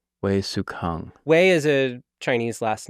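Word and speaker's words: Wei Hsueh-kang: Generally pronounce that? Wei Sukang. Wei Sukang.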